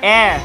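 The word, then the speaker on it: heir: sir tabang air air The Silent letter is h air He was the soul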